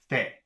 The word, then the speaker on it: fait: And then we have F-A-I-T, which should also be pronounced fe.